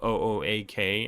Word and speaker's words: OOAK: It doesn't sound like okay. It sounds like because it's o AK. It's like okay. Okay. Okay. Something like that with an accent. And people who don't know might pronounce it as like Oak. Oak. Professor Oak from Pokemon.